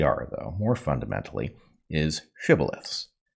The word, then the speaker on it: shibboleth: A shibboleth being a word that the pronunciation of which can identify whether or not you are of this or another tribe. Right. So the basic point is the word shibboleth itself is arbitrarily, the correct pronunciation is arbitrary.